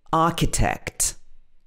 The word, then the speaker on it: architect: and fast rule but sometimes h is silent when it comes after c for example architect somebody who designs and draws um plans of buildings an architect i want to be an architect also in chemical we